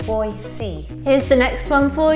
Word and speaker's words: Boise: the next one is we have been calling it noisy but it's actually Boise here's the next one